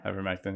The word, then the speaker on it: ivermectin: Ivermectin? Yeah, ivermectin, yeah.